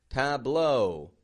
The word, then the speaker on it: tableau: It makes this ah sound, but if AU comes at the end of a word, it makes an O sound. Tableau, plateau, O.